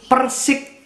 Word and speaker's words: Persic: Sebenarnya ada satu lagi Persik itu, ucapannya sama tapi tulisannya berbeda, yaitu Persik yang pakai C belakangnya, Persatuan Sepak Bola Indonesia Cilegon.